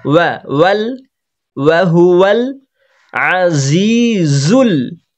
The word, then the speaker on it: العزيز: না, ওয়া, ওয়াল, ওয়াহুয়াল আজিজুল, আইনে হবে টান, টান হবে না, গলার মাঝখান থেকে হালকা চেপে বলতে হবে, তাহলে আইনের উচ্চারণ হবে, না হলে হামজা হয়ে যাবে।